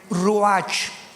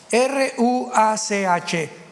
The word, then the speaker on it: ruach: Biblia la palabra espíritu que es la palabra se escribe ruach r u a c h ruach Qué es la palabra espíritu vemos Nosotros